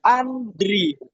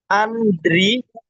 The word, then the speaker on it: Andri: huruf I ini jadi Andri. Nah, pembacaannya gimana? Pembacanya tetap jadi pembacaannya itu dari atas. Jadi pembacaannya kayak A N mati. I terus D an Andri gitu, Guys.